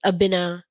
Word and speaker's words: Aina: called bad so then my name is Aina that's how you would actually pronounce it but of course I go by ainaa to like all the